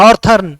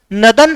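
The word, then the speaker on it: northern: आप जो बोलते हो ना नॉर्थर्न, नहीं, वो गलत है। सही तरीके से प्रोनाउंसिएशन हम कैसे करेंगे, नदन हेमिस्फीयर।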